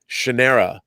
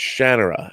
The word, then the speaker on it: Shannara: him he told me I was saying Shanna Shannara and he told me no no it's Shannara and I went and I've been saying that